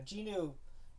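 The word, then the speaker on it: Jinwoo: something about um ginu the uh ginu is is what the pronunciation is in the in the English so I'm just going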